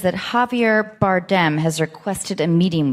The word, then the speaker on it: Javier: himself to people he's javier it rhymes with caviar oh he should have